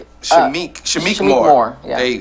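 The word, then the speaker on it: Shameik: Shamik. Shamik.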